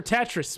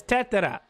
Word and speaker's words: Tetra: are deeply grateful i am not calling her tetris smithfit it's tatara all right now better